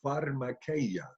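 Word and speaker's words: φαρμακεία: Porque la palabra que ha traducida hechicerías en griego se pronuncia pharmakeia, de donde viene nuestra palabra fármaco, farmacia, farmacéutico.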